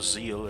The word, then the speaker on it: Seal: And now we're looking up on this seal server or zeal as they pronounce it and hope that we